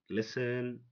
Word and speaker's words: listen: okay you can say listen pasen pasen often or often the T is silent when it goes before e n rule number 12 this